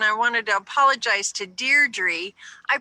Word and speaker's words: Deirdre: better from now on I always said it D troubles yeah is Deirdre oh so good she gave me the pronunciation so yeah yeah I appreciate that because